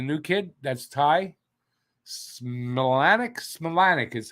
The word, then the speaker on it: Smilanic: Smilanic is how it's pronounced.